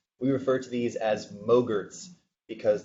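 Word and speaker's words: MOGRT: refer to these as mogar's because the file format is actually dot mo GRT rhymes with yogurt motion graphics templates so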